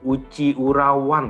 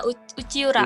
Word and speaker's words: Uchiura: itu, Uci Urawan kah bacanya? ya Uchiura.